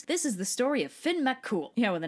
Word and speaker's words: Fionn Mac Cumhaill: the m what purp you don't pronounce the m why have it there